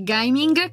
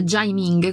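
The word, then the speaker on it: Gaming: E arriviamo ufficialmente all'ultimo di oggi, che è Gaiming, che mi è stato detto si pronuncia Jaiming, quindi Jaming, qualcosa del genere.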